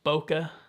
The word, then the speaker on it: bokeh: And you know, it's better for, I believe, for portrait shooting, and you can get the I believe it's pronounced bokeh effect in the background of your images.